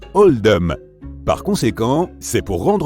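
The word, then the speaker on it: Oldham: à celui de l'école ce choix a été fait pour refléter la prononciation d'Old dam dans l'accent local qui se rapproche davantage de oldum par conséquent c'est pour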